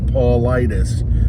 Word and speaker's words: Paulides: got a YouTube channel, David Paulides, just spelled like Paul Ides, like Ides of March, Paul Ides.